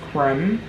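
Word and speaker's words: Kreem: is associated with Cali it's spelled k-r-e-e-m and pronounced as Crim and you would inhale on the exhale you would chant creme so a example is foreign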